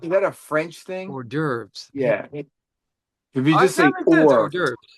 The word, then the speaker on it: hors d'oeuvres: Um, uh, um, I don't know why I cannot pronounce this word. Oh, diverse? Uh, uh, hors d'oeuvres.